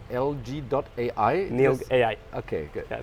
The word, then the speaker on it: NILG.AI: And your company is pronounced NILG.AI? NILG.AI. Okay, good. Yeah, NILG.AI.